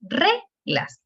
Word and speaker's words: reglas: Cuando nosotros hacemos eso, sabemos que entonces la sílaba tónica es re, porque es reglas, no es reglas, ¿sí?